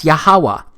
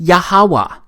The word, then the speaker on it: Yahawah: simple back then that it vocalized each consonant with an a sound without specifically marking that sound between consonants so this YH wh it's pronounced yahawah it also turns out